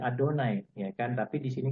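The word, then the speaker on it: אֲדֹנָי: Ya, kalau kita bahasanya bacanya Adonai, ya kan.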